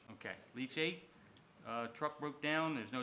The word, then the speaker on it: leachate: Is this pronouncing this correctly? Leach tape? Leachate, okay. Leachate.